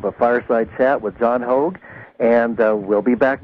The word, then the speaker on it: Hogue: called uh hprc decom that's like hog is spelled like Rogue with an h h o g u